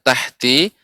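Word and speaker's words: تحت: Ya, Ibu, untuk pengucapan tadi terasa pengucapan ya, tahti, maka jangan sampai haknya menjadi qalqalah, ya memantul. Karena hak bukan huruf qalqalah. Tahati, tahati ini lambat. Tahati, seterusnya tahti. Benar-benar haknya tahti.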